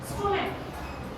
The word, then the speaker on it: stomach: দেখো আমি এখানে একটা ওয়ার্ড লিখছি, স্টোম্যাক। স্টোম্যাক, STOMACH। এক্ষেত্রেও শেষে সিএইচ আছে, কিন্তু এর উচ্চারণটা কি চয়ের মতন হয়েছে? হয়নি তো, এর উচ্চারণটা কয়ের মতো হয়েছে। সিএইচ এর উচ্চারণটা শেষে কয়ের মতো হয়েছে।